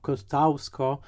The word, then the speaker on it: Kościuszko: No właśnie, jeżeli jacyś producenci nas słuchają, to pamiętajmy, że Kościuszko, co prawda wymawiane jako Kostausko, jest jednym z nielicznych